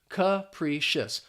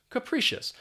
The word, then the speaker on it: capricious: uh sound and then the p r i is just pronounced as pre capricious capricious and what this means